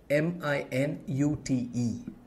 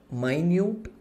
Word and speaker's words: minute: Now, let's take the word minute. It's spelled minute, which means small or tiny, or it's spelled minute, which is a unit of time.